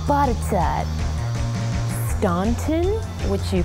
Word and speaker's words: Botetourt: There's Butterdur, which you say as Butterdur.